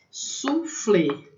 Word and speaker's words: soufflé: Soufflé, né? Então, esse OU tem som de U, né? A maneira como se escreve em francês, soufflé.